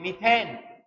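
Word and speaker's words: methane: दिया इसका ऑटोमेटिक अपन English medium में बोलते हैं मिथेन हिंदी मीडियम वाला इसको बोलेगा मेथेन प्रोनाउंसिएशन का फर्क है इसे बाकी बात एक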